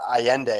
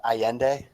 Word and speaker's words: Allende: And this is a period where Salvador Allende. Am I saying that right, guys? Allende?